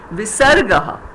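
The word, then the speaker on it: विसर्गः: We'll see it here just now, Then these 2 vertical lines behind Sataha, Darshibhihi, those 2 lines, vertical lines are called Visargaha, and it's pronounced as Aha, Sataha, Darshibhihi, right?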